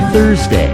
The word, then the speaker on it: Thursday: आर is silent. Thursday.